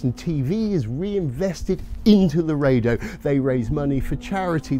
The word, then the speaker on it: Laredo: Laredo. Laredo.